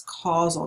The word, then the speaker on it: causal: these questions are called causal questions that's how you pronounce this word it's causal not casual it was casual would be c-a-s-u-a-l this is causal and